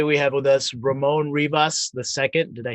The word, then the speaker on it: Rivas: I think it's Rivas, like Beavis, but with an R. But I don't. Some people say Well, Rivas. Some people say Rivers. A lot of pizza places will just say Rivers.